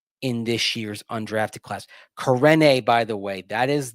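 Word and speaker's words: Karene: Corne, by the way, that is the pronunciation according to the pronunciation guide on the rosters we have been provided.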